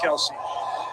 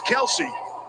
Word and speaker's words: Kelce: If we would put the split screen up, see the guys in the truck, they're putting the pressure on Kelsey. Kelsey's almost unrecognizable. And it is Kelsey.